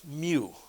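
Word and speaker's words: μ: is 10 the -6 it is a Greek letter it's pronounced mu okay how many of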